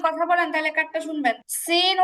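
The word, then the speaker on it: س: বলি আপনারা যদি কথা বলেন তাহলে কারটা শুনবেন সিন উচ্চারণ করার সময়ও সেমভাবে চিহবার আগা নিচের দুই দাতের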